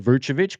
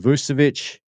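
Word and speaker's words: Vučević: Now I pronounce it Vuchovich cuz I you know Tim Sinclair the ball's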